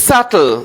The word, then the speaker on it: subtle: say this it's subtle the b is silent next it's a yacht the ch h are silent right in this How do we pronounce it?